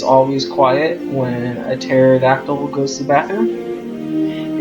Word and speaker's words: pterodactyl: Hey, do you guys know why it's always quiet when a pterodactyl goes to the bathroom? It's because the P is silent.